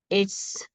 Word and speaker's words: it's: a doctor it is it's contracted as its and is pronounced as its there's no z sound in the end it's it's it's perfect